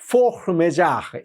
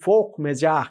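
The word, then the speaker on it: force majeure: ইংরেজিতে ফোর্স মেজার, কিন্তু আসলে এটা একটা ফ্রেঞ্চ শব্দ, তো ফ্রেঞ্চ উচ্চারণ করাটা বড্ড কঠিন। আমি দেখলাম সবচেয়ে কাছাকাছি বোধহয় ফোর্স মেজার এই টাইপের কিছু একটা উচ্চারণ হবে। আমি সহজ করে আপনাদেরকে বাংলায় বলি, বাংলাটা হচ্ছে গিয়ে অনিবার্য কারণবশত।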